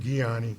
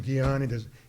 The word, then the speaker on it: Ghianni: thank you again it's it's Giani I was almost everybody mispronounces is my name so I don't take I don't take offense at all my uh but I do it's guon in Italian this is a rule in Italian if you have a